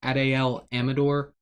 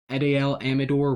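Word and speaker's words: Adael Amador: His name's kind of hard to pronounce. I believe it's Adel Amador.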